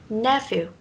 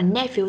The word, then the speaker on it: nephew: À trong cái từ nephew ấy thì ngoài cách đọc là nephew ra nó còn sẽ có một cách nữa là nephew, tức là âm phờ là mình sẽ được phát âm là âm v, được chưa?